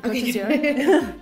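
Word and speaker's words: Côte d'Azur: Did I even say it right? You did. Cote d'Azur. It's coast of blue.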